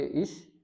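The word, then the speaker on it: ich: जैसे इश, जैसे इश, खुश, ओइश या फिर निश्ट।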